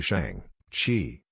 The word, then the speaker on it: Shang-Chi: revealing to her that his real name's actually shang chi pronounced like sean with an extra g and he was raised